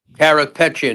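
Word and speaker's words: Karapetyan: Kapatian uh is still in jail. Correct. Carropetian is in still in jail.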